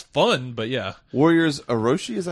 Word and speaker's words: Warriors Orochi: Warriors Orochi, is that how you say it?